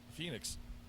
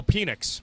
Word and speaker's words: Penix: The kid from Washington, Phoenix. Oh, Penix.